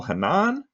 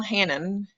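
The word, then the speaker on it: Hannan: his name and I hope I'm pronounc it Daniel Hanan or Hannon. Daniel Hannon. Hannon. Okay. I for some reason thought it might be Hanan, but he he's a former politician from the UK.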